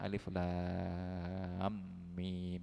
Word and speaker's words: Alif Lam Mim: Jadi tidak ada kemudian di sini bacanya alam atau apa. Nah, itu yang ini benar-benar dari Al-Qur'an. Jadi semuanya bacanya alif lam mim ya.